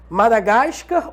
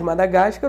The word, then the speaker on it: Madagascar: parte da língua culta Madagascar ou Madagascar Caraca tá de sacanagem então aquele filme do bonequinho lá no zoológico que ele é bichinho não é Madagascar Madagascar não tanto faz Madagáscar ou Madagascar Eletro do ou eletrodo